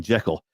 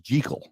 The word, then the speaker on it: Jekyll: I'm sorry, it's not even Jekyll. It's correctly pronounced Jekyll, which is something I bet you didn't know. That's the correct pronunciation is Dr. Jekyll.